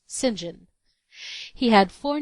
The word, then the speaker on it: St John: plenty of his own his name was Cuthbert St John pronounced singen he had four names